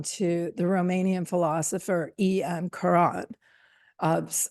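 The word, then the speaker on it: Cioran: the Romanian philosopher em Karan of Americans sometimes pronounce his name as Saron and I had never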